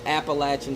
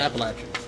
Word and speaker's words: Appalachian: state something see you're you're not from the mountains like I am you don't say it right you got Appalachian State appalachin appach don't ever say that again okay state in short